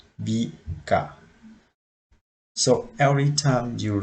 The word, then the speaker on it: 日: So in here for onyomi reading, we have the two sound for this kanji, nichi and jitsu. For the kunyomi reading, we have like hi, bi, ga.